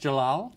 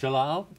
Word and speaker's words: Djalal: Uh ambassador it's pronounced Jalal. Jalal. Yes. Jalal.